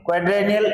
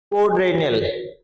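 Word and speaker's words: quadrennial: क्वाड्रेनियल ये प्रोनाउंसिएशन देखें आप इसका, क्वाड्रेनियल, क्वाड्रेनियल यानी चतुर्स, हर 4 साल में होने वाला।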